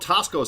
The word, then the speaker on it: Taxco: This is called Tasco Steps, which is actually Taxco Steps, because I think it's a place in Mexico. And I think the X is pronounced as an S.